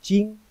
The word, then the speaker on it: 金: So that's original gold, jing, pronounced as jing, follow me, jing.